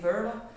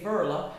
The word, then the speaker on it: Veerle: clients and they they asked me how to pronounce my name well my name is i know the french people say verla and the english people